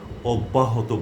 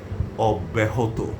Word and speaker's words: অব্যাহত: এই শব্দের উচ্চারণটিকে অনেকেই অব্যাহত বলেন। যেটি ভুল। এটি করা যাবে না। এটি ভুল বলার কারণ হচ্ছে অনেক সিনিয়ররা এটি ভুল উচ্চারণ করে আসছেন এবং পরবর্তী প্রজন্মের উপস্থাপকরা তাদেরকে অনুসরণ করার কারণে তারাও ভুল করছেন। তারা অব্যাহত পড়ছেন বা অব্যাহত পড়ছেন। কিন্তু এটি সঠিক উচ্চারণ নয়। আমাদেরকে পড়তে হবে অব্যাহত।